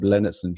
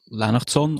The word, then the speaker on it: Lennertson: co-owner and founder of lanon or lenardson if you want to pronounce that a little bit more Anglo-Saxon but that's l e